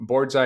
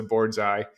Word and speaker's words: boardsi: out with this so board's eye is spelled b-o-a-r-d-s-i and uh some people pronounce it board c and some people pronounce the board's eye uh we try to stick with board's eye like bullseye like the old saying